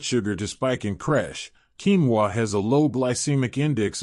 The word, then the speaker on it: quinoa: Pronounced quinoa, this small but mighty seed is a nutritional powerhouse that can play a big role in stabilizing blood sugar.